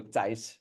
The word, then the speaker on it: Thijs: Uh my first name is pronounced similar to Mike Tyson's last name. So without the the sun part. So, TAC is uh is how you pronounce it.